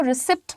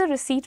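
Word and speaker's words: receipt: इसको रिसीप्ट मत बोलिएगा। It's pronounced as रिसीप्ट। Could I have the रिसीट?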